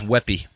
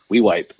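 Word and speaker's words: Weippe: I always thought it was Weppy. Weeyipe.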